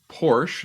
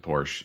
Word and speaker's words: Porsche: thank you all right this is porsche porsche if you want to say it correctly i i i know that because i had one and i said porsche and i was corrected many times um but this is